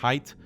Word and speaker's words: Haidt: World renowned psychologists and researchers like Jonathan Haidt (pronounced “Height”) and Joseph Heinrich explain that high analytical thought is correlated with less of what’s called “Deontological Morality.”